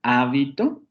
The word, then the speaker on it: hábito: Si aparece en la primera, hábito, se refiere a una cosa.